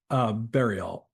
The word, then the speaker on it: Berriault: Berriault. Berriault. Okay, so no T? No, it's the French pronunciation, but we do with the hard B so that to differentiate it, because otherwise it'd be Ariel.